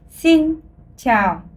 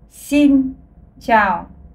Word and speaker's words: xin chào: En vietnamien, ça se dit xin chào. Encore une fois, xin chào. Cette prononciation est assez facile parce que vous n'avez qu'à imiter le ciao dans l'italien pour avoir un ciao en vietnamien.